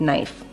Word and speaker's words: knife: to surprise you because what sound do you hear at the beginning of knife which is what letter and yeah but knife has a silent k at the at the front so there's a knife